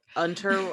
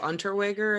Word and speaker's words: Unterweger: Well, gosh, I cannot pronounce his last name. I just listened to it, Untergerwerger. or Unterweger, I think I it's pronounced. I Yeah.